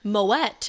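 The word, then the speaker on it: Moët: It says, "Surprisingly, moette is pronounced with a hard t and not a silent t as is typical for most of the French language.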